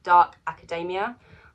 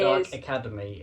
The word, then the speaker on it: Dark Academia: This is... Dark Academy is what Sage says. It says Dark Academy written all over it. Or Academia or something.